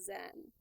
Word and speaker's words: Xen: That's how I would say it, Zen.